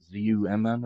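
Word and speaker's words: Xumm: Z-U-M-M or something like that? You talking about the XRP wallet? Yeah, X-U-M-M or something like that. Yeah, I think they actually pronounce it Zum, the Zum wallet.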